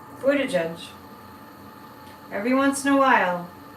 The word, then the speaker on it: Buttigieg: I think Pete Buttigieg, every once in a while I say it right, Buttigieg, every once in a while, I think Pete Buttigieg is going to be president of the United States.